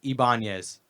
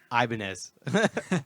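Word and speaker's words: Ibanez: for like five years it was ibanes like go iban guitars and everyone's like dude it's ianz you dummy but I guess if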